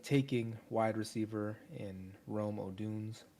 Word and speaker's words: Odunze: I have them taking wide receiver in Rome Oduns. Or Oduns, how do you say that? Oduns? Odunze. Odunze.